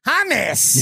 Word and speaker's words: hummus: hus humus is that that's what they say in Israel inel Aviv they say humus yeah what's the difference